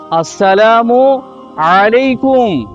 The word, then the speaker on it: আসসালামু আলাইকুম: আসুন আমরা সকলেই চেষ্টা করি সালামের সঠিক উচ্চারণ হচ্ছে আসসালামু আলাইকুম।